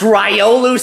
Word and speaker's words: Riolu: to be beaten tomorrow it's pronounced ryolu Superman whatever oh I'm